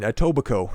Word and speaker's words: Etobicoke: Premier Doug Ford criticized Adam Skelly of Adamson's BBQ in Etobicoke. That's how you pronounce that, if that's the first time you've seen that goofy little word.